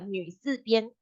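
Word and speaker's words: 女: is f last is the pronunciation of new will be like uh you try to say me but you Curve Your lipes when you say and then you Curve Your Lips okay so you may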